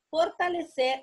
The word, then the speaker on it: fortalecer: La palabra fortalecer, termina en ser. Ahí va la sílaba tónica. No va acentuada, pero es una palabra aguda, porque la sílaba de mayor fuerza, o sea, la tónica la tiene en ser.